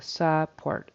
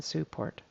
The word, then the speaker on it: support: then one pronunciation thing it's support with a short u support rather than support okay thank you very